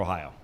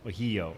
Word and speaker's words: Ohio: and took it away, depending on what tribe you were from, is how you'd pronounce it. Oyo, Ohio, Ohio, Eo. And when the English came in, they added the H and the I, and it became Ohio.